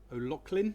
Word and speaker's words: O'Loughlin: So just to introduce our next presenter, it's Michael O'Loughlin. That's right. Yep. Got the pronunciation right.